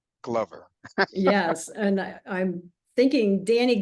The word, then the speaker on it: Glover: Is that a correct pronunciation? Thank you for getting that correct. Yes, it is Glover, not Glover.